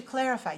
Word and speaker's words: clarify: a r i FY now how many syllables do you hear in the word clarify clarify clarify clarify three right okay where's the stress on this word clarify first one or second one okay watch me watch